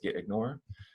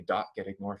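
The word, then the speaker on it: .gitignore: starts with a dot the name of the file is git ignore we just pronounce it as the git ignore file and we don't say the dot so it's not the dot get ignore file it's just the get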